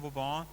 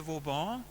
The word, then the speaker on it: Vauban: The Vauban district, or Quartier Vauban, French pronunciation, has been a barrack